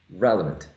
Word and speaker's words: relevant: within the word relevant relevant has many many syllables right relevant at least three syllables now not all of those three syllables are um prominent one of them is the most prominent one relevant probably you're able to perceive that is the first one right relevant so relevant